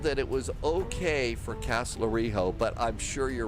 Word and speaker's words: Kastellorizo: Instead of Ho, it's Kastellorizo. You do say the Z. LGAF Tower. So, that Z. So, Kastellorizo. Kastellorizo. So, you do pronounce the Z.